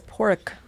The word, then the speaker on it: Poruk: So how did you guys get together as Poruk? Did you notice how I pronounce that? Yeah, yeah. Poruk. You got it right.